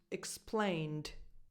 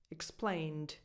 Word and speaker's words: explained: If you take this one, it's pronounced explained, explained. In this one, the final sound is more like a D, because you're coming from an N sound, from an N. Your vocal cords are already vibrating for the N, explain. So that following D, explained, just comes out more like a D, like a proper D, explained.